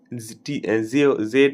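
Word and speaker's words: tso: থাকবে জেড ও নয় উচ্চারণটা হবে জো উচ্চারণটা জো হবে কিন্তু স্পেলিংটা হবে টি এস ও একচুয়ালি ব্যাপারটা হচ্ছে এইটা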